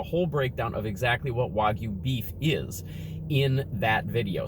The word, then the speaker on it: Wagyu: i actually look this up and the correct pronunciation of the word is wagyu wagyu burger wagyu meat we're going to talk